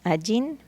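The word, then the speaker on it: אין: El primero, que es Ajin, se pronuncia Ajin, que significa ser nada o no existir.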